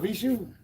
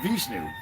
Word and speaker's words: Vishnu: Oh, what's up, Vishu? Oh, did I pronounce that right? Vishnu. Vishnu. There's an N in there.